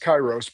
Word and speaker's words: Kairos: It is pronounced Kyros, but we'll get into that in a little bit.